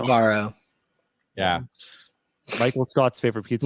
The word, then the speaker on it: Sbarro: They're doing really well right now, 75% to 25 versus how do you pronounce it? Sbarro. Sbarro? Sabaro. Sbarro.